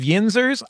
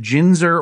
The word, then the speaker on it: Yinzers: I remember that going really well, and I didn't hear you mispronounce it, but we did get a letter from a Yinzer saying he said Ginzer or Ginzer, and maybe you were speaking about Pittsburghians who only drink gin.